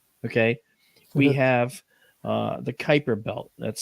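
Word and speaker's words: Kuiper: Pluto a planet okay we have uh the Kyper belt that's spelled Ki p r and that's the realm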